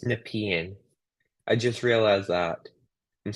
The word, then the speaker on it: Nepean: here oh it's Nepean yeah yeah people are pronouncing it's nepian I just realized that I'm so used to